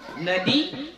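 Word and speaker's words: النادي: Nadi, golongan, al-a'la yang tinggi. An-nadi bi fathin nun wa kasrid dal wa tasydidil ya. Cara baca nadi itu nunnya berbaris fathah, dalnya kasrah, dan ya-nya dibaca tasydid.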